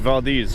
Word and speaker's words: Valdez: It's pronounced Valdez for some reason.